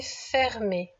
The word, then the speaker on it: fermée: Cette porte est fermée. Bravo. Si tu regardes bien, à la fin de l'adjectif fermé, il y a un petit E muet.